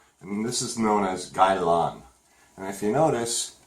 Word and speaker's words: Gai Lan: And now we have this vegetable here, and this is known as Gai Lan.